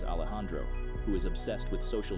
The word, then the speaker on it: Alejandro: Norman's friends include an introvert named Frankie who is a programming geek, Alejandro, pronounced as Alejandro, who is obsessed with social media and filming.